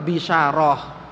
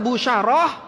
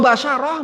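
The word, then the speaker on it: بشارة: yang lainnya itu ya maka bacanya adalah bisyarah kabar gembira. Kalau dibaca busyarah artinya apa? Mukafaah buat ustaz. Apa istilahnya tuh? amplop lah ya. Bahasa kasarnya amplop tuh busyarah baca ya. Kalau basyarah bacanya salah karena sama huruf-hurufnya nih tinggal apa bacanya harakatnya apa. Kalau dibaca basyarah artinya yang cantik ya kecantikan beda ya.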